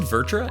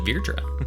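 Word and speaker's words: Vrtra: then uh virtua it's funny i've always said virtra and we were just playing final fantasy 14 and a slight spoiler work but the concept of fear trick comes up and they pronounce it virtua so i guess i'm pronouncing it wrong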